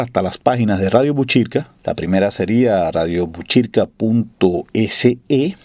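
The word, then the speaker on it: Botkyrka: Este nombre de Buchirca, si se escribe en sueco, se escribe con una K y una Y. O sea, usted diría radiobotkirka.se y Radio Buchirca como se leería, o Radio Buchirca como se leería, si lo leyéramos en sueco, .com.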